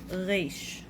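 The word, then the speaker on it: ריש: Next letter is reish. Reish. Reish is the equivalent of R, but it's pronounced way different than R in English. It's more r.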